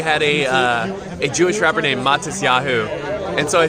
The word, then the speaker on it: Matisyahu: So in the States, we had a Jewish rapper named Matisyahu. And so I said Matisyahu, but it's Matisyahu.